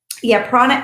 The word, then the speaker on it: prana: And I hope I'm pronouncing your name right. Prana, it's prana.